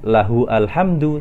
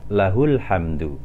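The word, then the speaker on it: لَهُ الْحَمْدُ: Bukan lahu alhamdu, tetapi kita bacanya lahul hamdu.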